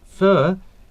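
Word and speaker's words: phở: take you to taste fur which is the most popular vietnamese national cuisine p-h-o pronounced fur is a noodle soup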